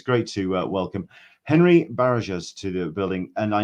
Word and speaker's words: Barajas: Barajas. I also have knew there was going to be a silent one in there. You can roll if you can roll your R's. It's Barajas.